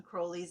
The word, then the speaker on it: Crowley: i always say when crowley's name comes up remember kids crowley rhymes with holy oh yeah there you